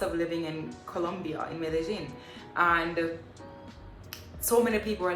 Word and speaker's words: Medellín: medellin by the way somebody said that i'm saying medellin wrong it's actually not wrong this is how they pronounce it here um it's really and